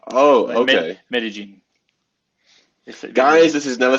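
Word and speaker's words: Medellín: Double L in Spanish is J. I don't actually know how to spell the name, so... It's like, when you write it, it's called Medellin. It's Medellin. Oh, okay. Medellin.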